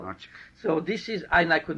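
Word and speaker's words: Arczik: And their grandfather and my grandfather, I find out the name is Archik. How do you spell that?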